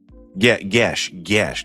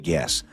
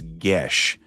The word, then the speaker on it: Gesh: Gesh, not guess. Okay, it's Gesh, right?